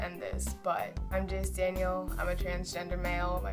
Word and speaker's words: Daniel: in my life that my middle name wasn't pronounced Danielle it was pronounced Daniel and I hate how